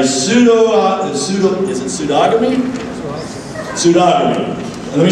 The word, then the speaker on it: pseudogamy: is meant by pseudo pseudo is it pseudogamy pseudogamy let me spell it P S E u d o g